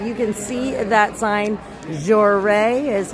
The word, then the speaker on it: Joray: Joray is how that's pronounced.